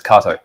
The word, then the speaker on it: Kato: say k here but it's actually proun as Kato and K is a very famous brand of